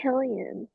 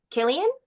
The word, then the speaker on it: Cillian: Oh, that's Killian. Killian? The way that's pronounced, It is?